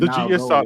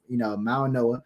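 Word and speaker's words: Mauigoa: I just found out that the G is silent. I was saying Mao go this whole. I was saying Mao go this whole time. So it's Mauanoa.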